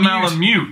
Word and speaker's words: Malamute: Blue Malamute.